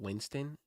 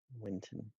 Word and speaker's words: Winton: the tongue so I would always call it Winston and it would just annoy the piss out of people winon yeah winon you have a history of this